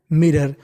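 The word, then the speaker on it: mirror: नजर डालना eight मिरर मिरर उसने शीशे की ओर अचानक से देखा देखिए आर दो बार उच्चारण एक बार करना है और ओ आर को पढ़ना है अर सडन शी ग्लांस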